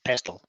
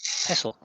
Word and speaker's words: pestle: but I know that you don't pronounce it pestle. It's pronounced pestle. That makes it a whole lot easier, Jared. So why is there a T in it? Because it's in English.